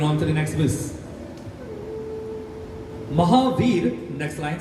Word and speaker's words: Mahavir: So the word Mahavir has now become Mahabir, as in the title that someone carries. It's the same thing, same spelling, wrong pronunciation.